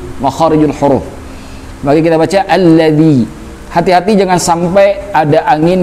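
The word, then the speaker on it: الذي: Alladzi, hati-hati membaca dza. Dza itu ada dua di dalam huruf Arab. Ada dza, ada zai. Kalau dza itu dibaca di ujung lidah. Biasanya lidahnya itu berdempetan dengan gigi. Bisa gigi bawah ataupun atas, ya. Alladzi berbeda dengan zai. Kalau zai itu bukan di ujung lidah tapi di tengah lidah. Allazi, jadi tebal.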